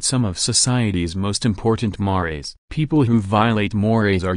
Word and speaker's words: mores: Mores, pronounced mores, are much stronger norms than our folkways.